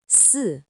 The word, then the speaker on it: 四: It's pronounced S. In modern Chinese, S simply means the number four.